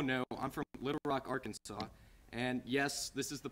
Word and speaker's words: Arkansas: is the place where people are like don't you mean Arkansas or which state it's Arkansas and to answer those questions Arkansas is the state and it was established before Kansas which means Kansas pronounces the state's name wrong all right anyway